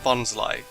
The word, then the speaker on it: Bonsly: finally know how to correctly say tropus and bonsly all right next let's look look at a